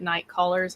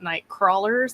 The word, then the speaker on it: Nite Callers: I appreciate you guys pronouncing it night callers and not night crawlers.